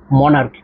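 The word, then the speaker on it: monarch: এর উচ্চারণটি হবে। মনার্ক এর সাউন্ড আসবে।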